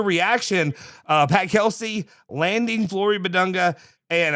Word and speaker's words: Bidunga: Pat Kelsey landing Flo Badunga and I I think I'm saying that right right? Yeah. You are. Okay. Badunga.